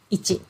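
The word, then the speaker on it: 一: we learn okay so this kanji character is ichi and then this ichi is like mathematical number so when you um you know like additions or you know that kind of mathematical um activity we use this ichi okay and then when you when we count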